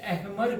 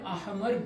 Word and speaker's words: احمر: نے یہ کہا تھا۔ لوگ اسے کامل احمر کہتے ہیں جو غلط تلفظ ہے۔ آپ اکبر کہہ رہے ہیں تو پھر احمر بھی کہیے۔ کامل احمر ٹھیک ہے نا؟